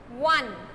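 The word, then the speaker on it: one: Number 4, Rita found a 1 rupee coin, because 1, the pronunciation of 1 is 1, beginning with W, like that.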